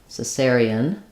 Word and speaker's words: cesarean: the pronunciation is cerian with stressing on the second syllable s so it sounds like s s e n cesarean so there it was they performed a cesarian cesarian section we often also